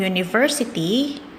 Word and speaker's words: university: Untuk university, kita pakai e. Meskipun dia diawali dengan huruf vokal, tapi university dibacanya U, seolah dia konsonan.